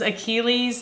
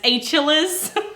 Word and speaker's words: Achilles: the wheel of fortune moment where the guy pronounces Achilles as a chalice I will leave that link for you down